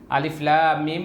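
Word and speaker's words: الم: টি সূরার শুরুতে রয়েছে আলিফ উচ্চারণে খুব তাড়াতাড়ি পড়তে হবে লাম চার আলিফ টান হবে আর মিম চার আলিফ টান হবে আলিফ লাম মিম মাঝখানে একটি গুন্না আছে লাম আর মিমের লামের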